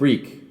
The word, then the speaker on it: Reek: house be meek with reek go fake with hake one rhymes with sneak the other with snake hake with his beak